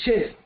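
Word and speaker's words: Heth: Heath or Chet, whichever way you want to pronounce it.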